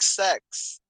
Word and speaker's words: CEX: said and he said it's pronounced like sex it's a c-e-x i mean yeah but